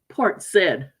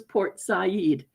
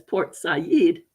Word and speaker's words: Port Said: be these strange words my dad would tell me oh he would say that was Port Port Said s a d but the real pronunciation was Port Zed and when the announcers actually started saying it the way it was supposed to be said from their own from that foreign culture as Port SED dad say that's port